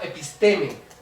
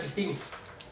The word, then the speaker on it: episteme: Bueno, hay mucha gente que que pronuncia episteme. Hm. Pues yo la pronuncia Pistini.